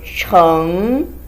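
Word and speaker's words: 橙: is a hard pronunciation here is pronounced like ch like in english so chung you curve your tongue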